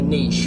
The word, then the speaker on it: niche: do i need to pick a niche or a niche depending upon where you're from in the world as to how you pronounce that but your niche is